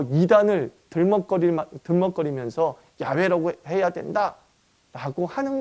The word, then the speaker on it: 야훼: YHWH에 붙어있는 아도나이의 모음을 YHWH의 모음인 줄 안 거야. 그래서 그거 갖다가 이렇게 뚝뚝뚝 읽어보니까 여호와, 예호와라고 하는 발음이 된 거죠. 발음이 된 거죠. 그래서 훗날 이 케티브 케레의 독법을 좀 연구하면서 여호와라는 발음은 YHWH의 발음이 아니다. 그럼 무엇에 가깝겠느냐? 아마 야훼에 가깝지 않았겠느냐라고 하는 연구 결과가 나오게 되죠.